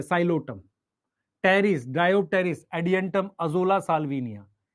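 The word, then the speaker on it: Psilotum: साइलोटम, P silent है, साइलोटम, terrace, डायोप्टेरिस, Adiantum, azolla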